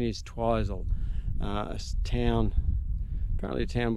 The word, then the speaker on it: Twizel: lake and uh now we're heading for twizel twizzle I reckon it should be pronounced but anyway they tell me that the New Zealand pronunciation is twizel a town apparently a town with fairly good